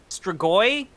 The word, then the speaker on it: Strigoi: How's it pronounced? Strigoi.